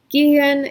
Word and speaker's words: gehen: So not only are you have vowel change that basically the EH works as one vowel because the H is only there to make that vowel long, but then you get like this extra NG situation, which is very unexpected.